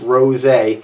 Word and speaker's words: Rosé: This is Signature Rosé, and it is pronounced Rosé.